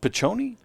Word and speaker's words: Piccioni: Luke Piccioni. What did I say? Luke. I said Nick? Yeah, you did. Oh, sorry, Luke. Luke, and it's pronounced Piccioni? I would say that's Piccioni.